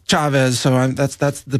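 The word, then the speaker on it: Chávez: And I know in America everybody says Chavez, but in South America it's Chavez, so that's the pronunciation I'm going with.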